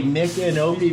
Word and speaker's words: Micanopy: Okay, Micanopy, because nobody pronounces it correctly.